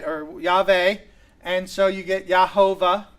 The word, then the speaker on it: Yahweh: It is a four-letter word, Yod He Vod He, and those four letters we think would most properly be pronounced Yahweh or Yahweh, right?